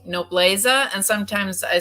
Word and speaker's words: Nobleza: i should say it no blessa no bless uh okay yes okay so the z is pronounced as an s oh okay wow okay